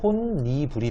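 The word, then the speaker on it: 홑이불: 그래서 결국은 홑, 이, 불은 최종적으로 혼, 니, 불이 돼요.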